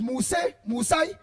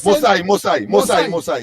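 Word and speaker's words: Moosai: Prakash, pronounce that from is Musai? They call it Mosai, yeah.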